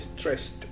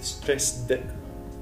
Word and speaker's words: stressed: ده صوت الداء في الاخر، انما الصورة اللي قبلها اللي هي stressed صوت الاي دي هنا بنطقه زي تي، فاقول stressed وليست stressed. tired.